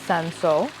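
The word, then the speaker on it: Cinsault: n s a u t um and you pronounce it Seno but the reason why this is called pinotage is because sanso the grape varietal was known as Hermitage so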